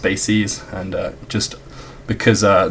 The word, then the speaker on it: bases: decize bases it looks like bases but it's pronounced bases and uh just because uh this chapter and